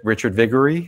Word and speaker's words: Richard Viguerie: Richard Viguerie.